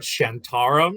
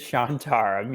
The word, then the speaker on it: Shantaram: behind the scenes we realized that I probably mispronouncing the name of the show it's what shantarum it says chant around it is shantaram yes exactly and I'm pretty sure it's Charlie